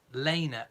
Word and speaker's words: Lena: spelt Lena L e ma the name is pronounced Lena as in la Y na so if you're